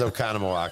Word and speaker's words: Oconomowoc: And how do you say it? Did I say it wrong? No, you actually said it right. You said I it said it 100% wrong. right. Yeah. Okay. It is Oconomowoc.